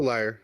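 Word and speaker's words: lyre: gently on the liar lay liar how do you say it is it a liar it's it's a liar okay um I'm going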